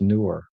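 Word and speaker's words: Neewer: Uh, n were it's spelled n were, but it's pronounced newer.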